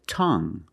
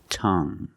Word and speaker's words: tongue: And we have this word, tongue. The UE at the end is silent, so we pronounce it like young. Tongue. You have only the nasal sound. There's no g. It's just the sound Tongue.